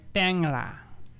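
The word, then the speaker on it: টেংরা: ট্যাংরা বললে হবে না এটাকে বলতে হবে ট্যাংরা কি বলতে হবে ট্যাংরা হ্যাঁ সো এটাকে কারণ হচ্ছে এখানে শব্দের শুরুতে রয়েছে একার তে একার রয়েছে তারপরে একটা অনুস্বর রয়েছে এজন্য এটার উচ্চারণটা হয়ে যাবে এ এই এ এর উচ্চারণ হয়ে যাবে এ ট্যা ট্যাংরা হ্যাঁ একার যুক্ত একাক্ষর ধাতুর সঙ্গে আ প্রত্যয় যুক্ত হলে তখন সাধারণত একারের উচ্চারণ এ হয়ে যায় এককার যুক্ত একাক্ষর আমরা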